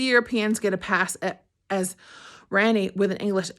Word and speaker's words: Randy: It's Ranny, not Rainy. Only the Europeans get a pass as Ranny with an English accent is Ronnie, and we can just skip all that.